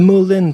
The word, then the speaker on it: Moulin: So I decided to turn it into a theater, the Moulin Theater. It's actually pronounced moulin in French, which means mill.